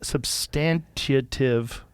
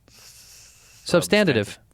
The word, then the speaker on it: substantive: you say it Jamie substantive sub but it's not tative it's TI substantive in Chicago we